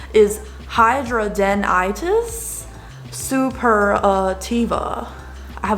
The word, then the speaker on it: hidradenitis: that this sucks um but to pronounce the pronunciation is hydra denitis super uh tiva i have a little thing